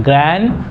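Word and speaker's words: grand: ನಾವು ಏನಂತೀವಿ ಗ್ರಾಂಡ್ mother ಗ್ರಾಂಡ್ mother ಅಜ್ಜನಿಗೆ ಗ್ರಾಂಡ್ father ನೆನಪಿನಲ್ಲಿ ಇಟ್ಕೊಳ್ಳಿ ಇಲ್ಲಿ ಉಚ್ಚಾರಣೆ ಏನ್ ಬರುತ್ತೆ ಅಂತಂದ್ರೆ ಗ್ರಾಂಡ್ ಇಲ್ಲಿ ಡಿ ಉಚ್ಚಾರಣೆ ಮಾಡಬಾರದು ಗ್ರಾಂಡ್ ಅಂತ ಅನ್ಬೇಕು ನಾವು ಗ್ರಾಂಡ್ ಗ್ರಾಂಡ್ ಮದರ್ ಗ್ರಾಂಡ್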